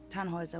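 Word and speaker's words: Tannhäuser: what's your name tanhauser we'd pronounce it tanjoyza with an umlaut german roots yes my grandpa these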